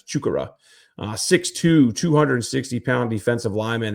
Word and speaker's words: Chukwurah: best to to double check on on the pronunciation. It's not Chuck Rora or anything like that. It's Chukura.